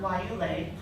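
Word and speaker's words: guayule: But what was and even though it's spelled with a G, it's pronounced with a W.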